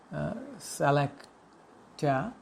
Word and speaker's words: szlachta: And his father, Apollo Korzeniowski, was a patriotic member of the landowning class known in Polish as Salakta. It is spelled as SZLACHTA, and it means nobleman in Polish.